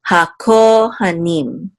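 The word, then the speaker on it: הַכֹּהֲנִים: This shavar right here reduces this patak sound, so you want to make sure to not accent this syllable for sure. So hakohanim, hakohanim, and the ha means the.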